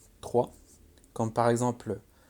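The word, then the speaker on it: trois: Par contre, le S ne se prononce pas. 3.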